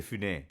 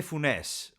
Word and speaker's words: Funès: Funès, che tra l'altro non si dice Louis de Funès, come dicevamo noi, ma de Funès, ho sentito che si dice.